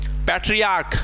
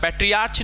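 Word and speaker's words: patriarch: पैट्रियार्क, इसमें देखो CH का उच्चारण चो नहीं होता है, पैट्रियार्च नहीं होता है, ठीक है। क्या है? पैट्रियार्क।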